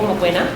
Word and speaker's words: Mokoena: My name is Mokoena, for short, because I know my name is a bit difficult for most people to pronounce. So it's Mokoena.